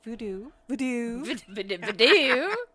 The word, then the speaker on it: Vodou: Voodoo. It's like bidet, voodoo.